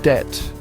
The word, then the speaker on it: debt: See, debt comes from the Latin word debitum, and that bee was alive and kicking in Latin. But somewhere along the line, when the word made its way into English, that bee decided to take a permanent vacation.